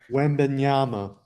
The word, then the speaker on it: Wembanyama: How do you say it, Nick? Yeah, I know you know. Wembenyama.